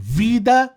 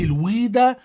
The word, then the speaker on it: Veda: حسب النطق الغربي بيتقال فيدا أو فيداس أو الفيدات، وحسب النطق الشرقي الأصح بيتقال الويدا أو الويدات بالجمع يعني.